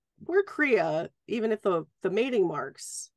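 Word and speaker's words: cridhe: Well, there's a whole thing about fated mates and what are called Kriya. It's C-R-I-D-H-E, and that means so heart. Creed-he. But it's pronounced Kriya, and it's means heart, and it is the term for fated mates.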